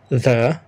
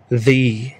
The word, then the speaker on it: the: في ذا لو بعدها صوت ساكن، صوت هادي، يبقى نقول ذا. لو بعدها صوت متحرك بنقول ذي.